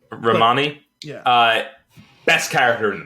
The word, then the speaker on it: Romany: I don't know how Romany Malco is that. I'm not sure if that's how you say his name. I think it's Romani. Romani.